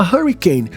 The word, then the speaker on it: hurricane: H, só que o primeiro ru é hurricane com H no começo.